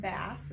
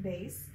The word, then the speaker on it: bass: have low c bass c it looks like bass it's pronounced bass middle c treble c and high c so